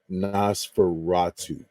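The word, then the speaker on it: Nosferatu: black and white so I want to make sure I say it right because I I always get it wrong but it's Nas Fatu so that's like the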